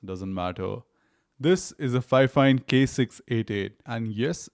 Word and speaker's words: Fifine: This is the Fifine K688, and yes, it's pronounced "Fine-fine."